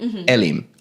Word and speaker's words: Elim: Okay, but you even got the first name wrong. Oh, wait, no. Did I say Elim? Elim.